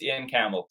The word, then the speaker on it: Iain Campbell: Is there a special pronunciation of your name? No, you nailed it. It's Iain Campbell.